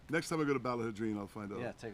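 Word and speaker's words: Ballaghaderreen: Next time I go to Ballahadreen, I'll find out. Yeah, take a look. Ballahadreen. Yeah. Ballahadreen. 4 syllables.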